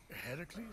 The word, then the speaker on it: Heracles: That thing with your voice? Heracles? Huh. Yeah, that. That is how it's supposed to be pronounced.